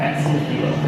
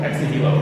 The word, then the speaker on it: Ex Nihilo: How do you pronounce it? Ex Nihilo. Ex Nihilo? Ex Nihilo, yep.